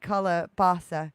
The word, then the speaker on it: calabaza: me of a melon calabaza sounds like calabasa oh calabasa thank you